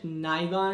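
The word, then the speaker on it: Nyhavn: the new haven area i think it's pronounced new haven it's nice it's like in danish nygon or something like that but yeah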